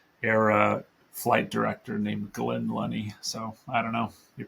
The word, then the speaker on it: Lunney: the podcast Marie Lenny is it did I pronounce that correctly Lenny you did Lenny like money is what I say Lenny like money I'm a I'm a the only